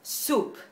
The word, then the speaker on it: soup: Vamos a ver, la primera es soup, sopa en español, que se escribe S-O-U-P, soup, y se pronuncia con U española, pero un poquito más larga, soup.